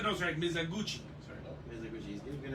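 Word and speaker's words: Mizoguchi: First appearance of Maya Maps Mizowski, I guess, as Robin. Okay. I don't know how to say that last name. No, you said it right. No, sorry, Mizaguchi.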